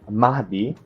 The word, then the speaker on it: Mahdi: Mahdi, by the way, it's pronounced Mahdi because, like you said, you have the diacritic on the final D here, right? So you actually pronounce it Mahdi, right?